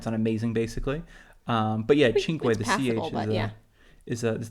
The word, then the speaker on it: Cinque: it's chin and not sway yeah or not Sway and I think it's hard I mean we